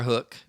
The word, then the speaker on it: Huk: Columbia and I wear hook which is spelled huk for those of you that are looking for it hook and and and others